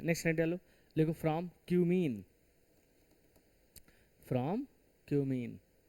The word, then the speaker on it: cumene: लिखो from क्यूमीन। From क्यूमीन।